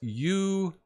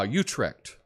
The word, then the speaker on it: Utrecht: Silly pronunciation detail, it's Utrecht. Utrecht. Oh, was that the school? Ah, Utrecht.